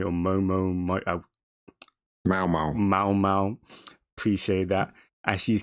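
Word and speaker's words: Maomao: And Yes, Japanese light novel, now anime, and we followed the adventures of Moi Moi or Mao Mao. Mao Mao.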